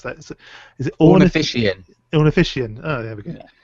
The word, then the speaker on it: Ornithischian: I can't pronounce that. Is it Ornithischian? Ornithischian.